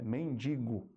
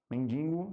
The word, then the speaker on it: mendigo: r retrógrado sobrancelha aqui ainda ficou o mendingo né mas não tem esse I tá é mendigo mendigo mendingo gripado né mendingo né